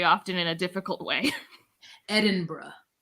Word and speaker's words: Edinburgh: Edinburgh. Edinburgh. Okay, so there's an Edinburgh University in Pennsylvania that's spelled the same, but it's not pronounced this way.